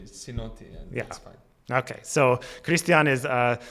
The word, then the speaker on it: Cinotti: ways yeah i mean it's italian uh yeah and therefore maybe it should be correct to pronounce it like chinotti but uh creation version is tinotti so all people usually say sinnotti okay so christian is